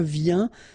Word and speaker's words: viens: Je viens Final S not pronounced, okay? And when you combine this IEN, you get this yen, yen.